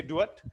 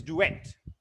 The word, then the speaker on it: duet: duet it's not clear one moment father and son is a duet or do it some people say do it the right pronunciation is duet father and son this